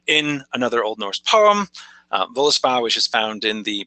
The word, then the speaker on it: Völuspá: another Old Norse poem, Völuspá, which is found in the Poetic Edda. Like we've said, it's the first poem in that collection. It's called Völuspá, Völuspá, depending on what pronunciation we're trying to use, something like that.